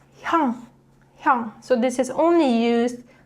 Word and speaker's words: 형: But when 이응 is in 받침, it produces 응 sound. So 형.